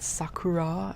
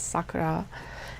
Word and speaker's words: Sakura: But my God, they mispronounce her name constantly. Sakura. It's not Sakura. It's Sakura.